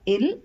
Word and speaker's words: ils: or e l s s is silent so it's pronounced as ill or L we use ILS when